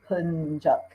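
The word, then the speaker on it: Yapıncak: There is an I with the dot that has a different sound that sounds more like an E. And this I it's even after 9 years, I still have a hard time actually pronouncing this particular vowel correctly. It's like okay. Like, it's Yapincak, or so.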